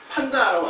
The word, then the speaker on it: 판다: 중에 가장 개는 동물이 판다라고 하시죠 판다 아 예 보통 팬더 팬더라고 하죠 팬더 그게 발음은 정확한 말 판다가 왔어네 그 판다는 바로